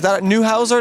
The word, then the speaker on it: Neuhauser: Is that Neuhauser? That's how I pronounce it? Yes, Okay. that's the correct pronunciation.